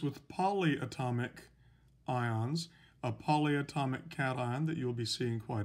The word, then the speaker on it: cation: want to point out this is spelled c-a-t-i-o-n-s but it is pronounced cation a-n-i-o-n-s it's pronounced anion